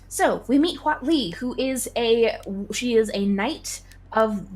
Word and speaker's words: Huatli: Yes, I think it's Huatli. That is at least the pronunciation that I have now heard and have established as the one that I believe. Yeah. Well, I mean, it's vaguely... It's Spanish, but it's like... It's basically Aztec.